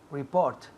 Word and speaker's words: report: Report. Muy bien. Report. Report. El énfasis cae en la segunda sílaba. Report. Report. Y aquí escuchar la T al final.